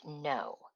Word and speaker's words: know: Well, that one, remember, has a silent K in it. So it's KNOW.